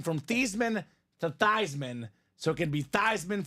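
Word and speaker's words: Theismann: these men it's not tyman it should be pronounced tysman German name Joe tyman for Tyler Thompson nice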